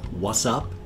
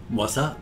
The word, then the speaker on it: WA$$UP: So what we have is, I assume it's pronounced what's up, because the dollar signs, but what's up with Nom Nom Nom?